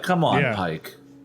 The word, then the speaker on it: Pike: Pike. Bike rhymes with Pike.